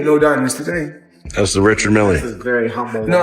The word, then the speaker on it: Richard Mille: No, I like to call this people pronounce them different ways. Rashard Mill is what my jeweler told me, so. That's exactly how you say it, Rashad. Rashad Mille.